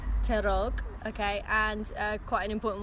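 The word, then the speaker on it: te rog: okay so how do you say uh please terog terog okay and quite an important one thank you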